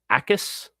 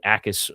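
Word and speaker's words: Jacas: Uh Gabe Ais, the J is silent. It's spelled J A C A S. Uh Gabe Ais from uh Illinois, 6'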